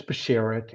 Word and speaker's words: Bashert: I saying it right it's it's basharit it's the words in Yiddish and what it means